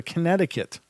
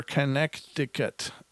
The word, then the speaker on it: Connecticut: we're gonna go to Connecticut or connect ticket another silent letter and these in these